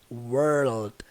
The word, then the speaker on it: world: World. Então a pronúncia é world. Você vai elevar o som do R e do L lá pra dentro.